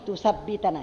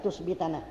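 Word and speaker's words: تُثَبِّتَنَا: Ini bacanya tusabbitana ya. Tulisannya salah nih, tusbitana. Sabbata yusabbitu tusabbitu. Wa an tusabbitana bacanya.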